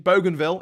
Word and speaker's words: Bougainville: Papua New Guinea one of its autonomous regions Bougainville is set to become yes that's the way you pronounce it is set to become independent in